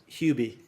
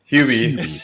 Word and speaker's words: Hubie: got kind of like a bobby boucher it's pronounced hubie hubie who is he being the name of the